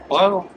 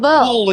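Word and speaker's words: Paweł: Um, my name is Pavl. Pavo. Paul in English. Pavo. In English in USA? Paul. Paul.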